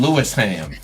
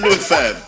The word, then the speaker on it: Lewisham: thought she lived in Lewisham. Where's Louis fam? What's that? You know they're gonna kill you for the ham. Hey, Spen. It's Lewisham, okay? Lewisham.